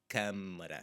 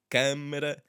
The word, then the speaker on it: câmara: N's related to them, so they are a bit more nasally than you would anticipate at first glance. So one more time. Câmara, âncora.